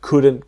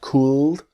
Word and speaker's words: could: the same same situation the l is silent so it's not cooled but could practice me could all